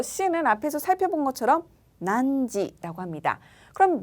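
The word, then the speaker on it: 何時: 난지라고 하는데요.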